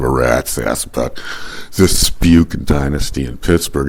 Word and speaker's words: Spuk: of them have the last name it's spelled s p u k pronounced spuk people I mentioned this everyone in Pittsburgh